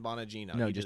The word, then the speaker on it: Bonino: his name Dan Dan Bonino Bonino yeah Dan Bonino Dan bino Bonino according to Dan Bonino he